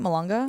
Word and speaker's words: Malonga: Malonga?